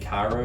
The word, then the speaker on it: Kairo: It's from, I think, Kairo is how you pronounce it.